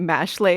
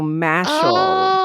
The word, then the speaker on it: Mashle: I was thinking wait it's magic and muscle so mashle like muscle that's why it's pronounced that way yeah yeah so I